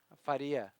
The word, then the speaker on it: Faria: Currently in second, Lucas Faria, how do you pronounce his last name properly? Faria.